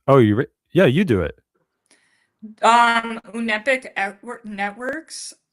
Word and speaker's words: Unepic: Unepic Networks.